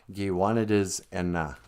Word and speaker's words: Giwanidis Enna: It should just spell, it's pronounced Giwanidis Enna. But Giwanidisi is to be crazy. When we say Enna, you drop one of the I's.